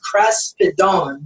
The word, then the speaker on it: kraspedon: word in this verse of Matthew 9:20 is kraspedon. That's how it's pronounced.